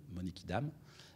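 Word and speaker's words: Monnikendam: film néerlandais de Vincent monekidame comme ça se prononce sauf qu'il y a deux n monikidam euh et euh en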